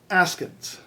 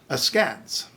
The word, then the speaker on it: askance: that we just plain old guess wrong so askins askance biopic biopic infrared infrared albite albeit ari arai